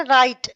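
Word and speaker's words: right: इसी तरह राइट। राइट में भी जी एच है। वो साइलेंट है।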